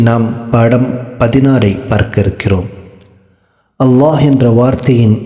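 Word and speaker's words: الله: அல்லாஹ் என்ற வார்த்தையின் உச்சரிப்பு சட்டம். அல்லாஹ் என்ற வார்த்தைக்கு முன்னால் ஜபர் அல்லது பேஷ் வருமேயானால் அல்லாஹ் என்ற வார்த்தையை வல்லீனமாக படிக்க வேண்டும். ஜேர் வருமேயானால் மெல்லீனமாக படிக்க வேண்டும்.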